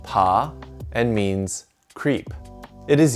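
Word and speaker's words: 爬: with their hands and knees this character is pronounced pa and means creep it is used in this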